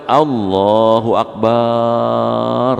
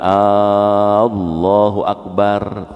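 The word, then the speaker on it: الله أكبر: Tausiahnya, hati-hati baca takbir gitu. Kalau salah bacanya maknanya berubah. Contoh, kalau kita baca Allahu Akbar gitu, maknanya berubah tuh gitu. Kenapa? Baknya dipanjangin gitu. Kalau bapak bacanya Allahu Akbar gitu, Allah gendang, jadi berubah maknanya. Sebaliknya kalau bapak baca alifnya dipanjangin Allahu Akbar, tuh nanya apakah Allah Maha Besar gitu.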